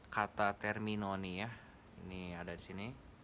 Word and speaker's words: Termignoni: Gue mau nunjukin kalian gimana caranya nge-pronounce kata Terminoni ya. Ini ada di sini. Termignoni, Terminoni.